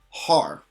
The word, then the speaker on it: har: So without the dash, this is pronounced ha, but when we put the dash, it becomes har.